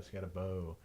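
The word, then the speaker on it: Skattebo: Skidaboo. Garrett told me how to say it. I think it's yesterday. Scatabo. Scatabo, that's what it is. Yeah, Scatabo.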